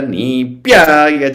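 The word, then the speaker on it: नीप्याय: Namah Katyaya Cha Nipyaya Cha. So the stress is on tya and pya.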